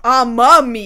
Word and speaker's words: Amamiya: a second, is Kei Amemiya. Amamiya. Amamiya, yes. The kanji, like, it could be pronounced either way, but she specifies Amamiya.